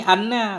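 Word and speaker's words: أنّ: Wasani anna bi fathil hamdati, bermula yang kedua itu anna, bacanya dengan fathah hamzah.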